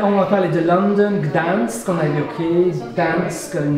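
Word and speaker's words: Gdańsk: Et comment prononcer Gdansk? Gdansk.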